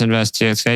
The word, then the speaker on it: NVST TXK: any plugs anything you want to plug obviously invest TX oh yeah for shout out uh invest TX it's the nonprofit spelled nvst txk it's pronounced invest txk you can follow us on Facebook and Instagram